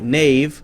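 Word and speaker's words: knave: spelling hasn't really changed we say k-n-a-v-e nave like nave n-a-v-e but still spell it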